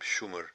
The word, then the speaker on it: Shumer: It was named Shumer, evidently the name they had for themselves, but when the European scholars originally discovered it and discovered those texts, they had mispronounced, you can say, the sh as sa, so therefore the name was Sumeria, as we use it.